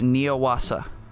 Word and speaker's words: Neuwasser: It's Neuwasser. Neuwasser. Neuwasser. Right? Those two things are the German words for new water, just kind of smashed together and pronounced incorrectly, right?